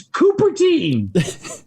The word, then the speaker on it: Cupertine: remind poor Johnny about, he goes back and forth with the pronunciation of one of my main characters, which is the Cupertine crime family. Yes. Sometimes he says Cupertine, sometimes he says Cupertine, and then he'll go story to story. I'll change it up every time. like you've read like 4 books of mine. It's Cupertine.